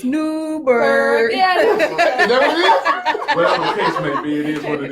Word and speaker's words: Newburgh: Y'all said it wrong. It's Newburgh.